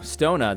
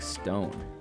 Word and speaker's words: Stone: Stona. That's not how you say his name. Mike Stone.